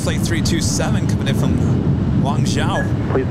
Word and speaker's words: Guangzhou: Guangzhou. Isn't that weird? Yeah. Guangzhou.